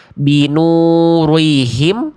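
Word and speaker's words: بنورهم: Oke, jadi jangan sampai ada yang melafalkan ro kasroh jadi tebel atau ada monyong-monyong yang contoh. Binurihim atau binuri. Jangan, ro itu tipis. Jadi dibacanya gimana? Tanpa pangkal lidah, tanpa monyong. Binurihim.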